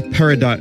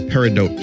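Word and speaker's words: peridot: parote one Diamond gloves why do I say paradot is paridot the mystery it's pronounced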